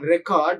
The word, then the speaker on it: record: See, if you stress the first word on record, that functions as a noun, but if you shift the stress onto the second syllable, that functions as a verb. Record is a noun, record is a verb, right?